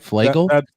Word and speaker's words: Flagle: Flagle? That's the pronunciation, yes.